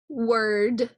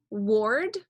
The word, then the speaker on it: word: this one says word it looks funny though because the O R in the middle looks like it says or so it looks like it's gonna say or ward it isn't it's a word like una palabra word